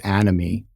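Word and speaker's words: anomie: as an example to illustrate a state of animy which I I think is spelled a n o m i e but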